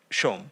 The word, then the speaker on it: Som: the Shah is in Bangla, but if you say S-O-M, no one says Shom. So I have stopped saying Shom, Right.